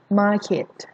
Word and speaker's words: market: ดิ เนาะ ต่อ ไป market market ไม่ เอา เสียง ว่า มาเก็ต นะ คะ เหล็ก ออก เสียง ว่า มาก เขต market market นี่ ก็